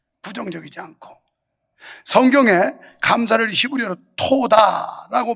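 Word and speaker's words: תודה: 사람은 매사에 긍정적이에요 부정적이지 않고 성경에 감사를 히브리어로 토다라고 발음하는데 현재 이스라엘 언어도 토다라는 발음이 감사합니다 고맙습니다 이런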